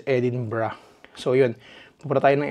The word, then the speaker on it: Edinburgh: Actually Edinburg talaga. Edinburg yung pagkakaalam ko sa lugar sa lugar na yun. Pero ang pronunciation pala nila dito is Edinbrah.